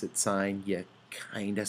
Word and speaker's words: sine: it looks like it says sin but please pronounce it signed yet kind of sound silly if you say